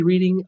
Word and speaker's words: Reading: Nancy Nolan actually reading MA is pronounced Reading.